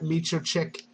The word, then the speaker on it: Miocic: And forgive me if I mispronounce this. Is it Stipe Miocic versus Shane Del Rosario? Miocic or Miocic? Miocic. You might be I think you have it right. Versus Shane Del Rosario. Miocic, I believe.